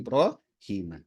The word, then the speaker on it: Ibrahim: ya ini ee Q jadi ibrahima kita bacanya ibrima yaitu adalah Ibrahim ya